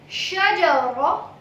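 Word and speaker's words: شجرة: Shajara. Shajara. You know all these 3 words pronunciation. She, Jim, Ra. Shajara. Shajara. My lips are not owing while producing Ra. So, Shajara. Shajara. Without owing your lips.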